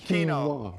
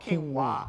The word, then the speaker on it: quinoa: That's the way it's spelled, but it's actually pronounced quinoa. Oh, quinoa.